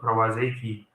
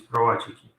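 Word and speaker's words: prowazekii: a Czech scientist, and again, pronunciation is not English one, it's not Pravazeki, it is provachiki.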